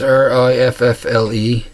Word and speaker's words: riffle: I'm pretty sure I'm pronouncing it right. It's R-I-F-F-L-E.